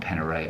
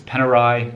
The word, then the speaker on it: Panerai: panera right now and it's not peneray i know it's panerai you know i'm australian we always pronounce things incorrectly it's panerai don't tell me in